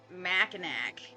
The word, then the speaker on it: Mackinac: is weird because like I wouldn't look at that and think Mackinac like nothing about that makes me think oh it ends an ack I'm guessing the pronunciation